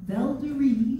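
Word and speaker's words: Valderi: Dutch-born writer Antonia Roach wrote the English lyrics and used the French version of Velderie, Veldera, pronounced with the soft V sound.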